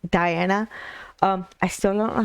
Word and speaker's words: Diana: to listen to deanna i think that's how you pronounce her name is deanna not diana um i still don't